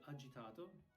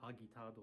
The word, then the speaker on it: agitato: And then you got agitato. Agitato. It's not agitado or something.